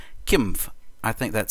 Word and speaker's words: Qimgv: instead of Kim and when I went to the how to pronounce when I clicked on that it says Kim I think that sounds